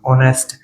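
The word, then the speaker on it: honest: An honour, ऑनेस्ट। इसका pronunciation देखेंगे, पहले हिंदी में लिखेंगे प्रोनाउंसिएशन, और फिर पहला अक्षर देखेंगे वोवेल्स है कॉन्सोनेंट्स।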